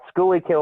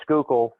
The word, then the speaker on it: Schuylkill: okay yeah anyway uh schooly kill or schuylkill as it's properly pronounced is a town just outside of wilson killer what it's called but if you look at it it looks like it says schooly kill is the name of